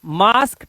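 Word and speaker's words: mask: blast cast and आस्क तो आपने देखा ए के बाद एसटी ए एस के है तो ए का उच्चारण आ है ए नहीं है ठीक है ये रूल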